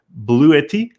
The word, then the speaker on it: Bluetti: sponsor this week the educast is sponsored by blue 80 is that the do I pronounce that right that's right yeah it's a